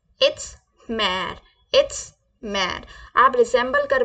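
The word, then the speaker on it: mère: बोलेंगे फ्रेंच में इट्स मेर इट्स मेर इट्स मेर आप रिसल कर पा रहे होंगे इसको हिंदी से इट्स मा मेर मा मैर it's like that मैर please try करें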